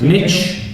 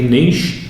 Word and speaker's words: niche: niche uh niche client niche if you pronounce it incorrectly niche if you're british for a niche clientele